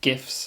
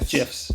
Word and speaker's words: GIF: argument with that yeah gifs it's getting gifs the creator says gif that's what it is short for the word graphic which is a hard g g yes a draftic